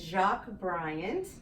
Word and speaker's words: Jacque Bryant: Joining me today is Jacque Bryant. Did I pronounce it right?